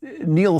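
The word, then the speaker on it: Niall: You know, Neil Ferguson, I believe that's how he pronounces his first name.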